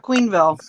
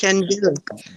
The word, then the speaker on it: Quenneville: No, I am a queen, but it's not Queenville. It's Quenneville. It's French. Kenneville? It's Kenville. It's Kenville.